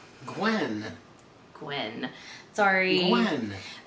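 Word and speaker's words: Gwynne: and you guys i always forget how to pronounce his last name gwen gwen sorry when it's just it's it's i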